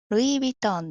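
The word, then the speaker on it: ルイ・ヴィトン: 単語全部で言うとルイビトンです。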